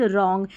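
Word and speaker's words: wrong: डब्लू आर को है ना हम र पढ़ेंगे, क्यों पढ़ेंगे, क्योंकि डब्लू है ना वो साइलेंट हो गया, तो राइट रॉन्ग।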